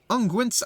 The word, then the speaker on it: unguent: I shall endeavor to rally further healers and follow after you, bearing what restorative unguents I can. Yeah, I learned how to pronounce that.